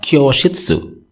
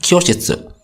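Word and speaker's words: 居室: Ingat ya, bukan kyoshitsu. Kalau kyoshitsu itu kelas ya, melainkan kyoshitsu. Cara bacanya pendek dan kanjinya pun berbeda dan tentunya artinya pun berbeda gitu.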